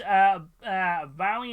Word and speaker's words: Bowie: It's pronounced Bowie, not Bowie, as in Bowie.